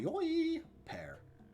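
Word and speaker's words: Hyoi Pear: You got a Hoyoi pair. That's how it's pronounced.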